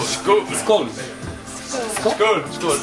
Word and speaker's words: skål: Skål. Skål.